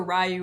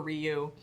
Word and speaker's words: Ryu: I'm gonna say it both ways in case you guys are like, she's pronouncing it wrong. It's either Ryu or Ryu.